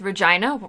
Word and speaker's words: Regina: it's one of um Kristen's online friend says Regina rhymes with fun um and have a look out